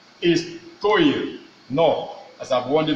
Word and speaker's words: histoire: Remember, in pronouncing the Histoire, please don't pronounce it with what?